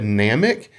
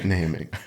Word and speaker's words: Namek: I do want to point out Randy said Namek and it's pronounced planet namic that is so funny we we had we've